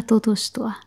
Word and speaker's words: tutustua: Hey, kiva tutustua. Oh, you can try the other one. Hey, hauska tutustua. Hey, hauska tutustua. That one's a tongue twister. Hauska tutustua. Tutustua. Perfect. That's the two part that's hard.